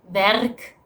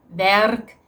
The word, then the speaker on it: werk: There are some Dutch people who go through the effort of pronouncing this either with the French or Spanish R. So people can say maar or maar. People can say werk or werk. Even I do that occasionally